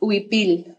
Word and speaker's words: huipil: It's pronounced Huipil.